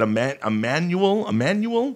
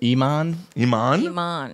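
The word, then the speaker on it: Imane: Emmanuel? Iman. But it's spelled I-man.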